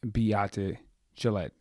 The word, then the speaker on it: Beate Chelette: Without further ado, let's get into today's episode with Beate, Chelette, and Small Business War Stories.